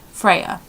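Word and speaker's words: Freja: he loves the name freya f r e j a so not y a but j and the j sounds like a y freya um i'm not too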